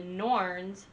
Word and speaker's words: Norns: In Norse mythology, the Norns, pronounced like norms with an N instead of the M, Old Norse Nornir, are